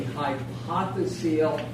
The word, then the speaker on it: hypophyseal: there, is called the hypophyseal fossa. Hypophyseal fossa. Hypophyseal. You know how I can spell it? Hypophyseal. So hypophyseal, the same way SEAL.